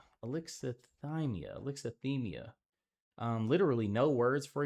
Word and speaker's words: Alexithymia: Can I get a pronunciation one time? Alexithymia. Alexithymia.